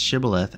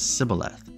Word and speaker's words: Shibboleth: Which tribe in Israel pronounced Shibboleth as Sibboleth? Judah, Dan, Benjamin, or Ephraim? Ephraim. Judges 12:6. Then they would say to him, "Say Shibboleth," and he would say Sibboleth. for he could not pronounce it right.